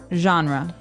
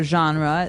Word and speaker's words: genre: pronounced differently we say genre genre or genre this kind of sounds French is it French I think it comes from French uh it's a g word so genre it's a soft soft sound MH and what's a